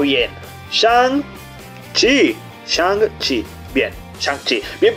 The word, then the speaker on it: Shang-Chi: Shang-Chi, bien pronunciado, señores.